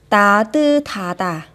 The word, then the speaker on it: 따뜻하다: Nhưng trường hợp đặc biệt khi âm sờ kết hợp với âm hờ chúng ta sẽ đọc là ta tư tha tả.